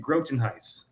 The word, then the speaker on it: Grotenhuis: Yeah, it's uh Grotenhuis. Grotenhuis. Oh, just like it's spelled.